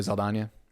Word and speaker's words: Saldana: But Zoe Saldana. Yeah, Okay. it's just a slight change, but yeah, no, it's there, and that's how you pronounce it.